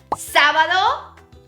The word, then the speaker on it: sábado: We have sábado, Saturday, sábado. Very good. Sábado. That accent is on the first A.